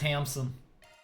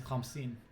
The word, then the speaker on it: Hamsin: Alright, Hamson. Why must you say it like that? His name is Hamsin. Yeah, but when you say it like that, my brain thinks that you're saying it like Hamson.